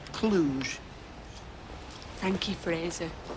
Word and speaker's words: Cluj: they're playing for CFR Cluj I believe that's pronounced Cluj Thank You Fraser it's got a nice ring